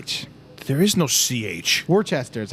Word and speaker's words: Worcester: I'm not going to apologize for pronouncing things correctly when you guys are the Worcester ones. is Worcester.